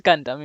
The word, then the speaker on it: Gundam: I don't know how you say it in English. No, you are right. It's Gundam, yeah.